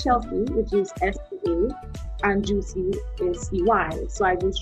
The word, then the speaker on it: Juisea: admit in the past i have butchered the name i started to say you see it and then so someone told me it's juicy so where did you